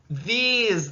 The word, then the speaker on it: these: It is going to make its long sound or say its name. So we have th, e, s, and our last e is silent.